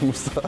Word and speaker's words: мышца: Да, в зале говорят мышца. Интересно, что нам говорит об этом словарь? Словарь думает недолго и ставит ударение на «ы» – мышца.